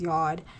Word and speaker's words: yod: pattern that is formed, whether it's a yod or yod. I believe it's pronounced yod, aka the finger of God, T-square, grand trine, those aspects.